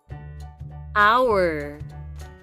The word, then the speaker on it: hour: Hour. H O U R. Let's spell that again.